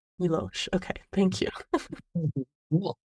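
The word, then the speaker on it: Miłosz: We've got, I haven't heard all of these out loud, so if I mispronounce them, let me know. Mallarmé, T.S. Eliot, and then Milos. Milosh. Milosh.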